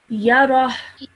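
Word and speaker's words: يره: So this becomes yarah. Yarah. Well done. Okay, so that h sound just comes right at the end.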